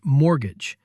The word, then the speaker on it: mortgage: The other one you hear all the time is mortgage. This is just a special kind of loan for buying property, like a house. It's one of those weird words with a silent t. Mortgage, not mortgage.